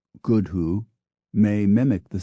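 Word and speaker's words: gwdihŵ: world thus for instance the Welsh word for owl GW D IW pronounced good who may mimic the sound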